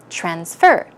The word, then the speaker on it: transfer: money in that case it's a verb so stress the second syllable transfer transfer I have to